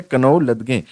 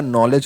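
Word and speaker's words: knowledge: ठीक है, मतलब पूरा फुल प्रोनाउंसिएशन उसने कर दिया कनौ लदगे। ठीक है, तो कनौ लदगे नहीं होता भैया, नॉलेज होता है।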